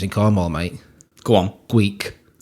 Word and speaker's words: Gweek: Gweek. Like Greek with a speech impediment.